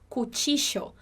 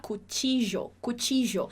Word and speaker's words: cuchillo: que falam dessa forma, que você escutaria como cuchillo, tá? Com esse som chiado, tá? Me chamo, e não me llamo ou me llamo, mas me chamo, igualzinho no português. Outra pronúncia que você pode escutar por aí também é com o som do J.